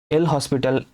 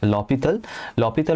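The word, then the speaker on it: L'Hôpital: एंड उसके लिए एल हॉस्पिटल नहीं है, इसका एक्चुअल प्रोनाउंसिएशन होता है लॉपिथल रूल इज देयर.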